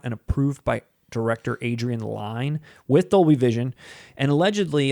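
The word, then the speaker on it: Lyne: how the movie looks is it pronounced line i always said adrian lynn adrian line's films have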